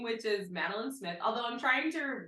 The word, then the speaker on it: Madelein: think you get it you get it madin like a little cookie like a little cookie